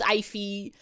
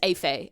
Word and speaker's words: Ify: It's Ify. It's like if you paid money to your eyeballs. It's like when you go to the optometrist, you pay them the Ify.